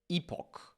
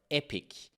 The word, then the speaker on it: epoch: Other information that we have in the clock Sysvar is the epoch or epic, depending on your pronunciation. Some say that, some say that. I personally prefer epoch because epic sounds too epic.